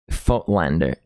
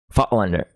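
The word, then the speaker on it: Voigtländer: For everyone, the correct way to pronounce Voigtlander is Fotlander. Fotlander.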